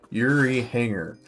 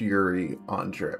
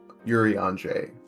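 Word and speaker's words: Urianger: His name to to me now is Yuri Hangar. I actually only learned how to pronounce his name after someone told me it is actually pronounced Yuri Andre on Yuri Andre because I was struggling to say it.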